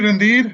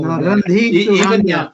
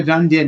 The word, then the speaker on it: Randhir: No, Randhir Even now. You go to Jaguar Land Rover, wherever you go, is it me? I'm a Randhir, not Randhir anymore.